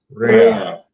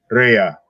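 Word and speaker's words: רֵעַ: I'm going to get him to pronounce it for you. Strong's H7453. Rhea. Rhea.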